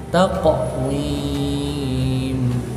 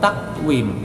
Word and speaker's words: taqwim: Fi ahsani taqwim, taqwim harus ada pantulannya, jangan takwim, itu nggak ada pantulan sama sekali, salah itu cara membacanya.